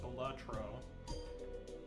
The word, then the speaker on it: Balatro: It's your boy playing some early game Batro or Baltatro or however you want to say it. It's actually pronounced Batro.